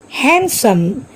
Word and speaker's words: handsome: Handsome. Here also D is silent.